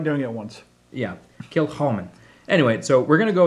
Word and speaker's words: Kilchoman: Anyway, so we're gonna go with Kilchoman. Kilchoman. Kilchoman. Yeah. All right. So the proper pronunciation has got that Phlegm. to phlegmy it.